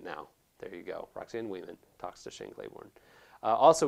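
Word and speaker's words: Wieman: And in the podcast, I say Wyman. And let me spell the last name for you. It's W-I-E-M-A-N. I know that it's pronounced Weeman.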